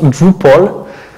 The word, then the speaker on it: Drupal: Ça se prononce Drupal.